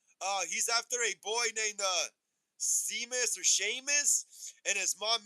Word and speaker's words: Seamus: His name's Seamus, but it's spelled Seamus. I know, Apple Ricky. I know, I know. I almost said Seamus though, but I was like, oh, it's Seamus.